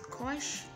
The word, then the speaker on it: cosh: H to make it shine y cos is pronounced as Cosh then we have our tongue and their inverses